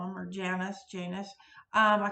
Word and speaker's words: Janus: honor or to honor the roman god janice i have also heard it pronounced janus across the pond um that's what i've